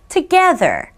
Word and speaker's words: together: Together. together. 자, 여기 there이네요. th가 만나서 혀 이렇게 발음해야 돼요.